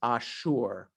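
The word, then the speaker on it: אשור: In Hebrew, it's Ashur, as opposed to the country Syria today, which in Hebrew is Suria.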